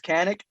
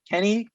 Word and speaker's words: Kanik: I told him my name is Kanik. He called me Kenny for the rest of the day.